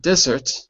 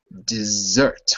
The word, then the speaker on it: dessert: word for me uh not not desert but dessert with a z and second syllable dessert dessert good because the other thing is a desert which is sped with One S desert dessert desert all right very good